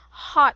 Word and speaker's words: hot: are hearing yourself saying heart Foods right you you were able to mispronounce hot to heart heart Foods so very